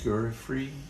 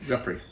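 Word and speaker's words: Giuffre: Lionel Hampton, Quincy Jones, and the Allstars, Jeremy Gurrey. Is that how you pronounce that? Guthrie. Really? Guffrey.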